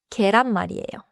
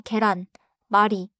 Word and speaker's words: 계란말이: 첫 번째 반차는 계란마리예요. 계란마리는 omlet이에요. 계란은 이지고 마리는 말아서 만든 것이라는 뜻이에요. 그래서 계란마리 is an egg rolled rolled omlet. 발음은 계란마리예요. 천천히 계란 마리.